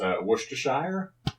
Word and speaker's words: Worcestershire: I know how to pronounce it, but whether or not I'm going to pronounce it correctly. Worcester? That's Worcestershire.